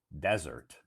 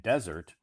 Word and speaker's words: desert: So, Todd, can you please teach us the pronunciation of unique, and desert? Yeah, because they have two pronunciations. Unique has one pronunciation, unique, and desert usually is pronounced desert if it's like a